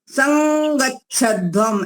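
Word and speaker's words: संगच्छध्वम्: तो इसलिए अब जो ये अनुस्वार है, इसका उच्चारण हमारा होगा क वर्ग का जो अंतिम वर्ण है ङ, क ख ग घ ङ उच्चारण आएगा। संगच्छध्वम ऐसा बोलेंगे। संगच्छध्वम संवद्धध्वम संवो मनांसि जानताम देवा भागम यथा पूर्वे समजानाना उपासते।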